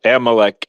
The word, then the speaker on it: Amalek: But he used that type Amalek Amalek Amalek, thank you, Andrew.